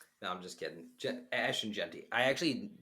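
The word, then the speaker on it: Ashton Jeanty: name so give us the number one pick Ashen Jey no I'm just kidding Ashen jenty I actually pronounced his name correctly with Billy and just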